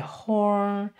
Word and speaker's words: 猴: and so we can say the curve the horn the pointed chin and also the beard and it is pronounced Yang so we can see over the